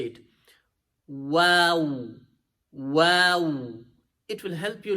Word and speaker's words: و: So try to pronounce it as wow, wow. So make your lips like this first, and then try to bring them, take them back.